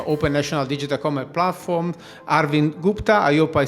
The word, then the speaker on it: Arvind: National Digital Commerce Platform, Arvind Gupta. I hope I said it well. No, thank you, Simone and Shruti, for having me. Yes, you called my name correct. It's Arvind, but in a boundaryless